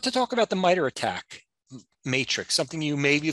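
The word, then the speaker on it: ATT&CK: they're a non-profit uh research organization and the attack here the and it's spelled kind of funny um stands for adversarial tactics techniques and common knowledge so that's where that acronym att and ck but it's pronounced attack this framework organizes and categorizes the tactics and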